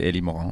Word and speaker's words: Eli Morin: avec un nom comme ça peut être prononcé à la française ou à l'américaine. Ouais. Du coup, à la française, c'est Eli Morin, ouais.